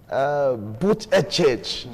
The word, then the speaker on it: Buttigieg: Buttigieg, so they pronounce it.